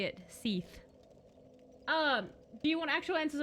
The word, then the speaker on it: Seath: you're pronouncing stuff, but it's really not pronounced like Seth, like the normal man name. It's like Seath, with the E sound.